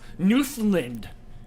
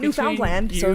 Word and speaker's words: Newfoundland: cash no cash surprises it's pronounced Newfoundland yeah I pronounced it right the second time because I was sure it was not Newfoundland and uh Bradman what's